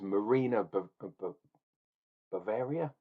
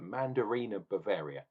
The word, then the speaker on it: Mandarina Bavaria: Apparently, there was Marina Bavaria. No, how do you say it? Mandarina Bavaria.